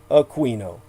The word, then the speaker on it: Aquino: as he preferred his pronunciation, Aquino.